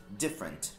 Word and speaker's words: different: Seria different, mas certo. Aí você corta, fala. Mas aí você corta e diz different. Different. Different. Duas sílabas também.